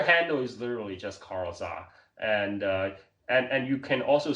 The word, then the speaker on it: Zha: You can just Google my name, Carl Za. Carl is spelled with a C, so Carl, and my last name Zha.